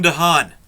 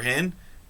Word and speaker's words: de Haan: easy to pronounce calvin de haan calvin de haan or han there's two ways that's han calvin de haan so it's